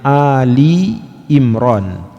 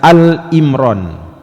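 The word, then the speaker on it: آل عمران: 191 jadi apa surah ini namanya Ali Imron jangan sampai dibaca Al Imron apa bisa jadi terjadi kekeliruan kita membacanya Al Imron ini bukan Al Imron tapi Ali Imron atau alu Imron artinya keluarganya Imron itu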